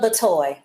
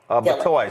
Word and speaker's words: Batoy: Just pronounce that for us. Batoy. Batoy.